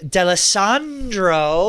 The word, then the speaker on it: D'Alessandro: All right, we're here with a very special guest, Eric D'Alessandro. Wow, great pronunciation. It is. Italian, not Puerto Rican.